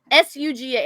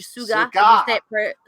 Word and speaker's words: Suga: look shook a shirt s-u-g-a it's actually a it's actually suga it's actually sugar sugar if you pronounce it korean but yeah by the